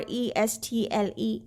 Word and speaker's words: wrestle: the word wrestle wrestle here w is also silent w r w-r-e-s-t-l-e wrestle mean to take part